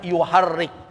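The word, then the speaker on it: يحرك: Nah, ini kata dibacanya yuharrik.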